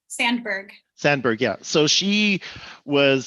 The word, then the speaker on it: Sandberg: are you familiar with uh cheryl sandsberg sam sandberg's book lean in yes okay so she she talks about so for those of you that don't know that sheryl sandsberg was am i pronouncing your name right sandberg sandberg yeah so she was senior in facebook